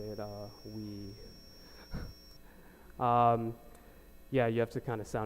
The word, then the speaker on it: oui: So the user says, let's say they start speaking French randomly, so they say oui. Actually, that's not how you say it, oui.